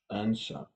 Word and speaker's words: answer: each of these what what answer answer it's w without sound answer and okay power is